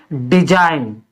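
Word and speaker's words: design: D, last में जी है, एन के बाद जी है, तो इसमें क्या पढ़ेंगे, डिजाइन।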